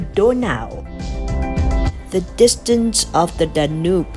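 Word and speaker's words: Donau: online search as to how a german speaker would pronounce the word danube and i came up with something quite different instead a german speaker would actually call it donao the distance of the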